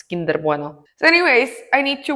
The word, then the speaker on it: Kinder Bueno: You know, some names they're not supposed to be pronounced with an English accent. Like I imagine I would say Kinder Bueno. It's kinder bueno.